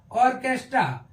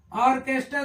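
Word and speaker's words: orchestra: हो जा रहा है लेकिन एच क्या है साइलेंट हो जा रहा है मोनल की ऐसे ही ऑर्केस्ट्रा ऑर्केस्ट्रा देखते हैं ओ आर सी एई ए टी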